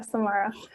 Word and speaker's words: Samara: Samara: Yeah it's right, yeah, Samara.